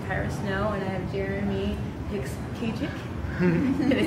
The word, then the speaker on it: Jeremy Hicks-Kachik: Once again, you're joined here with Tyra Snow, and I have Jeremy Hicks-Kachik.